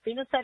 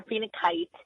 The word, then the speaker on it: phenacite: So phenacite is pronounced either phenacite or phenakite. Either way is correct.